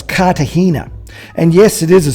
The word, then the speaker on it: Cartagena: It's Cartagena. It's not Cartagena as we would spell it in English. You drop the G and bring in a H. So it's Cartagena.